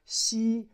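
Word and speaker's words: 溪: And this is a little brook, pronounced Xi.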